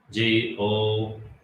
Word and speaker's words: Господь: G-O-S-P-O-D. D. Ди. but it sounds like oi. It's like you're saying Gospod. Yeah. G-O-S-P-O-D. Yeah. It's only an O. It's not an O-I.